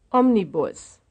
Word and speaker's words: Omnibus: front of the word which is the stressed syllable number two or number three number one number two or number three omnibus Omnibus sounds like the first one Omnibus Omnibus yes it says it's the first one 44.